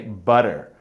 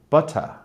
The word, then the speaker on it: butter: to that word butter as an american i say butter i pronounce the er but i don't pronounce the t whereas a british person will pronounce the t but they won't pronounce the er they'll say more of an ah sound like my english accent is very terrible but something like butter butter and the same